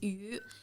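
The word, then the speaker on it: 鱼: Yeah, well, we always make a fish because fish in Chinese is yu. Yu is its pronunciation is the same as the other meaning means leftover. Okay.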